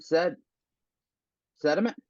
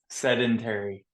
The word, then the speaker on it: sedentary: So laying in bed watching TV, I became sediment. No, I said it wrong, didn't it? Sedentary. There we go.